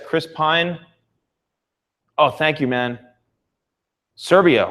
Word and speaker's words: Chris Pine: Pine is coming up I don't know why I keep pronouncing it Chris Payne but yes Chris Pine oh thank you man Serbia wow 3:00 a.m.